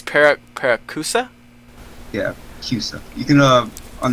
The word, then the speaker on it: Paracusia: Yeah, Paracusia. Okay, thank you for that, because I didn't want to murder the pronunciation. It's Paracusia?